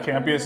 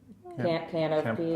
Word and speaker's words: Campeas: Yeah, Campeas is good. Good. Yeah. All right, that's good. All right, I Better pronounced it than- right.